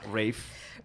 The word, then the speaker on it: Ralph: Apparently, Rafe is the posh British pronunciation of Ralph, which doesn't make sense. Ralph has a ph in it.